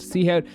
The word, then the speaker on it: SeoHowt: a streamer from ireland named seahawk pronounced seahawk this stream is all